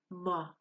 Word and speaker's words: mo: my lung - no the Moy can be pronounced ma it's my lung -